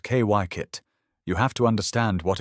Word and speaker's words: Kykuit: To understand Kykuit, pronounced Kykuit, you have to understand what it was never meant to be.